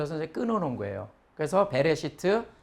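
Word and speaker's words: בראשית: 리을 그래서 이것을 히브리어로 이제 모음을 붙여서 만약에 읽는다면 배에 그 다음에 요거 묵음이 되어지고 쉬이 팁 그래서 시트 그래서 이거는 이제 창세기 1장 1절부터 처음으로 나오는 단어잖아요 그래서 이것이 이제 히브리어 책명 첫 번째 단어가 히브리어 책 명이 되는 거예요 그래서 베레스트 하면은 시작에 이렇게 이제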